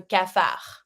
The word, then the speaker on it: cafard: Avoir le cafard. Don't pronounce the D.